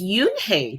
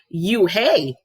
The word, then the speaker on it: Unhei: no no yunhei corrected it's spelled u-n-h-e-i it's pronounced yuke oh it's yoon hey the boy said like you hey what about hey you just then the bus